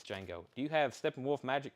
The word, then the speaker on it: Django: conway twitty conway twitty see that was the first thing that came to mind even though i now know it's django do you have steppenwolf